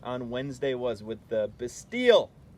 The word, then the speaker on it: Bastille: That is what that video you watched on Wednesday was with the Bastille.